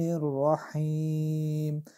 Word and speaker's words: الرحیم: بسم الله الرحمن الرحیم، دو جایی که حی آمده از قسمت وسط حلق تلفظ میشه کم با فشار. کوشش کنیم که امی دو حی را کم خوبتر و زیباتر تلفظ بکنیم چرا که بسیاری کسا ایرا مثل دریواری رحمان رحیم میگه که اشتباه است.